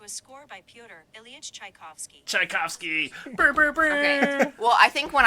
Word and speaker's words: Tchaikovsky: i'm just here to do spelled tch it's tchaikovsky uh-huh oh my gosh is it amy rant yes please pronounce it in traditional german um yeah and